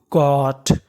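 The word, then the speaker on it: caught: CAUGST, यहाँ पे लिखा है AU। AU को पढ़ते हैं ओ, यानी आपको इंग्लिश में कहीं पर AU लिखा मिले तो आपको AU का उच्चारण करना होता है ओ, तो मीनिंग बनी CAU, कॉ, और GST। GST को पढ़ना है टा, तो मीनिंग बनी कॉट। कॉट।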